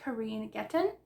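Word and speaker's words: Kereen Getten: one is when life gives you mangoes by Karine getton that's how you pronounce it but I got it for the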